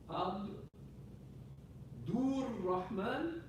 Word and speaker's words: Abdur Rahman: So Abdul Rahman, because they pronounce Abdul Rahman, so it's written with an alif, Abdur Rahman, Abdur Rahman.